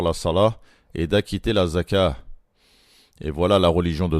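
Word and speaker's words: زكاة: Azzaka. Il y a une à la fin qu'on prononce comme une ha lorsqu'on s'arrête. En français, les gens ont l'habitude de dire la zakat en prononçant le thé.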